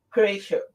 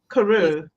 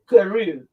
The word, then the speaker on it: Carew: Cray, have I pronounced it correct? Is Karu. Carew.